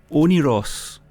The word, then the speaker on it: Oneiros: never heard this word before and it's it's pronounced onos which is a Greek word that means the